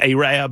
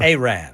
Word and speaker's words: Arab: And I got promptly alerted to the fact that it's Arab. Arab. It's not Arab. It's Arab. Yeah. Spelled the same.